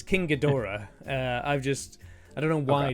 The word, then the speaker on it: King Ghidorah: I do have a Hiya Toys King Ghidorah, but I've not actually. Okay. Why did I say it like that? I've let the internet influence me. It's King Ghidorah.